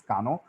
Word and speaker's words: Kano: a lot of people call call it as cano also but the right way to pronounce this is kano it's named after after the person uh who